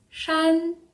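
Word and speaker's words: 山: facile là ouais c'est montagne et ça se prononce chan celui ci risque d'être un petit peu plus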